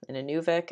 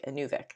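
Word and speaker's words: Inuvik: mine human resources officer an anubic a nuvic that's how you say it labor market programs deputy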